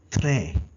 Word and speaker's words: très: Very in French is called très.